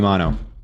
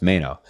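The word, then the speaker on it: Mainoo: favorite United player kabby Mano kab Mano Mayo Mayo I think it's Mayo why did I pronounce it mono it's Mayo kab Mayo I was just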